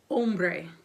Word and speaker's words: hombre: And then we have hombre. Hombre. Remember, we do not pronounce H's in Spanish, so hombre is a man.